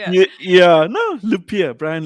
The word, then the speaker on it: Lupiya: asked you how to say it yeah no lupia bryan lupia that's it okay cool yeah and you're from